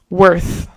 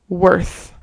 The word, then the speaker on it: worth: Worth. Worth. It's the same as the word birth. Um, worth the is the same like with her like her or girl worth worth is it worth it?